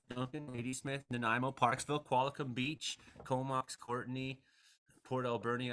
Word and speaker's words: Qualicum: And 5 to 15 centimeters for Duncan, Ladysmith, Nanaimo, Parksville, Qualicum Beach, Comox, Courtney, Port Alberni. I always love when Frankie says Qualicum Beach. Oh, does he wildly mispronounce it? Quamacon Beach or something every time.